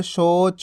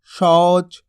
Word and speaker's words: शौच: अगर आप इस तरीके से पढ़ोगे और कोर सोच मौज तो गलत हो जाएंगे ये। आपको किस तरीके से पढ़ना है, और कौर शौच मौज, यानी कि जोर लगा के पढ़ना थोड़ा, ताकि औ की मात्रा का उच्चारण हो सके।